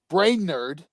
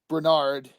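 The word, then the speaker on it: Brainerd: guys don't know is brain nerd or Bernard because it's spelled b-r-a-i-n-e-r-d so it's brain nerd is trying to develop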